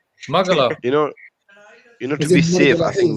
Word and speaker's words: Magala: Magla. I'm saying it wrong. Magala.